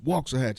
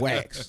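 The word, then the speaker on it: Waxahachie: no no no no it's Walker hatch It's Not wax you know what I'm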